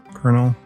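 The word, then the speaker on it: colonel: for me to pronounce kernel sounds like kernel like corn kernels no popcorn kernel anyway I'm digressing I'm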